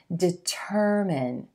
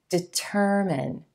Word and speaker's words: determine: And this word, determine, determine. Your emphasis should fall on the second syllable and the as in purple sound.